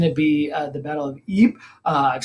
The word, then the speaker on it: Ypres: I'm going to say Ypres. Because my understanding is that's how they say it in Belgium, and it's in Belgium, so there you go. The Battle of Ypres, actually a series of three major battles.